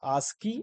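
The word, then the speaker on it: ASCII: now next two is ask as c i this is known as like we can Pro pronounce asky and full form is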